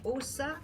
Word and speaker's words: Åsa: Alors, elle s'appelle Åsa Soderman. Åsa, ça s'écrit A avec un petit rond en haut, S-A. Alors, c'est pas O-S-A, mais c'est A-S-A, Soderman.